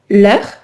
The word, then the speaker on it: heure: Donc, quand je dis par exemple l'heure, c'est un H muet. D'accord? Donc, c'est comme si le H n'existait pas.